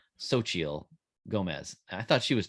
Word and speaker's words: Xochitl: According to Google pronunciation thing, that it's Xochitl. You pronounce her first name Xochitl Gomez.